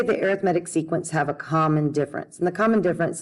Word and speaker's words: arithmetic: misalter that says arithmetic and it can be pronounced arithmetic but when we're talking about sequences and series we actually pronounce it arithmetic so an arithmetic sequence is a sequence in